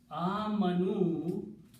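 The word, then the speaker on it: آمَنُوا: waw at the end and an alif with a circle which is not recited. It's called alif al-wiqaya with a little circle, which means you do not pronounce or recite the alif. It is just written there. Actual recitation is only waw.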